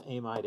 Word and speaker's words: amide: you're in great britain in great britain it's amide amid amide it's always a modern great britain but everywhere else it's an amid amid amide you just have to know all the pronunciations r carbonyl in and